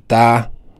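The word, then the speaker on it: 他: En chinois, on dit ta. Ta, c'est ça qu'on a écrit en haut ici à base des lettres françaises.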